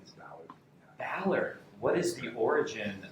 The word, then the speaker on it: Ballard: you can guess it it rhymes with a waterfowl and it starts with beat rhymes with a water